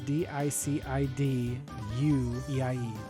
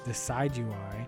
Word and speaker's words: Decidueye: It's Decidueye, Decidueye.